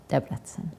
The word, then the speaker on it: Debrecen: in Debrecen Debrecen yeah you know something unusual about the Hungarian language is that the accent is always uh always on the first syllable of the word oh that's that's go matter how many syllables it has like I guess you